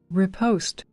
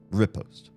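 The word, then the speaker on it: riposte: Your repost way is not directly incorrect, but there are many sources that also support repost. And the French seems to be an O sound, but just pronunciation um emphasizing the wrong or the different syllable to English.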